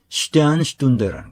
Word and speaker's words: Sternstunde: 이게 표기할 때는 슈테른슈툰데라고 쓰는데 독일 사람들의 본래 그 표준 발음은 슈테안이라고 합니다. 슈테안슈툰데. 슈테른이라고 발음하는 걸 나는 한 번도 들어본 적은 없어요. 슈테안. 근데 우리가 표기할 땐 슈테른이라고 하죠.